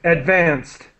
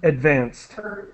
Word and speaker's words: advanced: more advances okay good advanced with a t sound advanced okay yeah so unfortunately